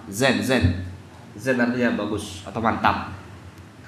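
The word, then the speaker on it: زين: Jadi zain artinya apa? Bagus, indah. Lawan kata dari zain adalah syain. Zain lawannya adalah syain. Biasanya diucapkan orang Arab zen.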